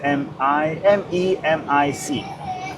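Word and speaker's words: Memić: So for example, mine is M-E-M-I-C, which pronounce Memic.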